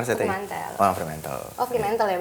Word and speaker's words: Fremantle: Oh, Fremantle ya bacanya.